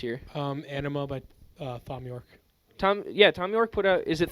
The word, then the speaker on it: Thom: It is Tom Bro, York.